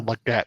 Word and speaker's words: Legette: nice that would be or Legette that's how you say it yeah Legette yep cor